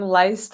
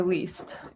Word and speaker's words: Leist: pronounce your last name I would go with a strong list over least it's definitely list nice okay I've saying